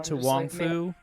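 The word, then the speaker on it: To Wong Foo: To Wong Fu? Yes! Is that how that's pronounced?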